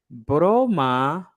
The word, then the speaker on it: broma: you go um okay if you if you say there if you pronounce their broma broma broma that's correct broma broma what does